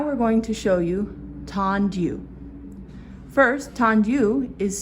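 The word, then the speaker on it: tendu: Now we're going to show you Tandu. First, Tandu is spelled T-E-N-D-U, Tandu.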